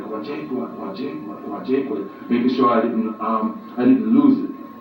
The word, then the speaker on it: Nkwajakhua: And so phonetically I spelled it out as K-W-A, Kwa, and then Jakhua I put down as J-A-K-H-U-A, Jakhua.